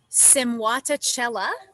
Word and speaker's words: Simwatachela: there's no s on the end and um simuata chella is the pronunciation of my project and i am technically